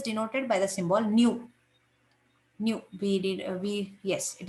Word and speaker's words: nu: by the symbol new new we did we yes it is denoted by symbol nu it is pronounced as new and it is expressed